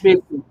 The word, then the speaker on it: Bebe: Bebe. Like it's like baby.